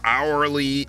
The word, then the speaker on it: hourly: __ ] him there's plenty of words with the silent h i mean you got aeris heirs hourly honestly heirlooms homage horders